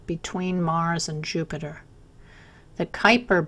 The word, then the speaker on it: Kuiper: Mars and Jupiter the Kuiper belt that rhymes with Viper is also made of